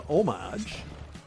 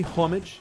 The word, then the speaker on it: homage: I don't really like the way that is pronounced. It should be homage. Homage. Oh, he did. It should be homage, right? But I'm pretty sure the proper way to say that is homage. I don't know, though. It just sounds like you're a pretentious piece of garbage when you say homage.